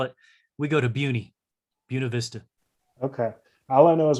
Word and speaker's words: Buena Vista: Because I'm not a Colorado native, and I say Buena Vista, but that's not it, is it? Buena Vista. Buena Vista. Okay. So say it the Colorado wrong Spanish pronunciation, like we do with so many things, like Salida and Lyman.